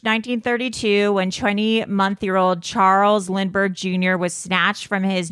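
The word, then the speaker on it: Lindbergh: what is it the how do you pronounce it the lindenberg baby the lindenberg baby the lind Lindberg baby Lindberg lber Charles Lindberg yeah so uh what really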